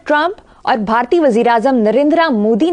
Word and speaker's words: नरेंद्र: जो आपने किया है नरेंद्रा मोदी यह सेमा साइलेंट होता है जो ए होता है मतलब आपने कभी सुना किसी से हिंदुस्तान में धर्मेंद्र धर्मेंद्र यह इसको इस तरह पख के नरेंद्रा नहीं इट इज नरेंद्र हल्का सा और धर्मेंद्र जितेंद्र कभी